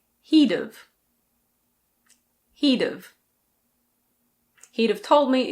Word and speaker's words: he'd've: He would have can be said as he'd've.